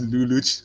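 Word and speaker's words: Lelouch: code geez is called luluj so i just pronounced myself as luluch hello lucha should we be sending you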